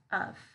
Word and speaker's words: of: So the first word here, up here, we're going to use the schwa sound to pronounce that vowel sound. So it's going to be uff. Uff. So that vowel sound's gonna be a lazy schwa sound.